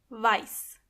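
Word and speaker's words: weiß: Black means And make sure you are pronouncing the correctly. Exactly. White means vice.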